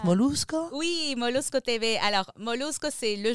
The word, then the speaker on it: Molusco: partenariat avec la télévision molousco comment on le prononce molusco oui molusco TV alors molusco c'est le journaliste référence de